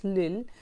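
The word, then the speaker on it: Lille: বলে একটা জায়গা আছে স্পেলিংটা হচ্ছে এল আই এল ই বাট you pronounce it's লিল লিল বলে নর্দান ফ্রান্সে একটা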